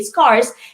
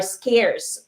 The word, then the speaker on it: scarce: so you don't skate you don't say scars it's pronounced as scares are scarce okay so scarce fall